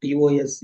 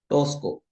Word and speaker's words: Tosca: The Tosca, the pronunciation of TOSCA is not Tosco, it is Tosca.